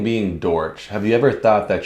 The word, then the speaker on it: Dortch: I usually get called, most people can't pronounce it right. What is it? It's Dortch. Like, you said it right. Yeah. You know, people, like, I literally be at shows like Dortchy.